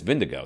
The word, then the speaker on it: Vingegaard: Like, Jonas Vingegaard, I mean, he's got two A's back-to-back in his name. Uh-huh. And it ends with a R-D, and it's Vindigo. That's how you say his name.